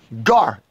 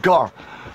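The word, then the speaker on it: גר: for hebrew 16 16 gar there's no ease in the hebrew or the paleo hebrew so it wouldn't be a girl look how this devil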